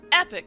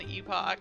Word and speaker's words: Epoch: thing at event of Epic shat Epoch I think they pronounce it epic in the states and Epoch in in not the states um but I feel